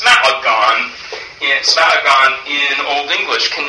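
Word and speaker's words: smēagan: But also Smeagon, or actually it should be pronounced Smaagon, Smaagon in Old English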